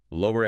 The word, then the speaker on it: lower: Lower. Like make make something go down. Lower. Lawyer. Like the person who argues in court. Lawyer. Different vowel sounds in the middle there.